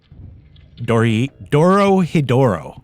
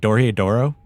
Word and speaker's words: Dorohedoro: Dorohedoro, right? Dorohedoro?